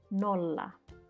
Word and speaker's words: nolla: categories, the Finnish word nolla and its pronunciation in English. So notice that I have here double letter and they are separated, which means that you have to pronounce them separately. For example, nolla.